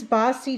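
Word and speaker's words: Baci: in my video an earlier video this is bossy chocolate it is it's spelled b-a-c-i it is a dark chocolate with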